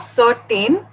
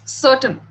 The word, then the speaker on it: certain: So it's not certain, it's certain.